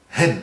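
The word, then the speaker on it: ἕν: D'ailleurs, et sans trop faire preuve de pédanterie, le mot pour désigner l'unité absolue de Dieu est un mot qui se dit hen, H-E-N.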